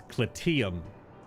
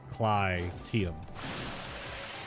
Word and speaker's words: Clyteum: I thought it was Clyteum or like Clyteum. C-L-Y-T-E-U-M. Clyteum. But I guess it's Clyteum. It's a different Y sound, which is strange that there isn't any symbol above the Y at all.